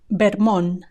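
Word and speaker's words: Vermont: and our final state is bmon bmon with a b b at the beginning bmon bmon and no T at the end bmon bermon you've seen that Spanish speakers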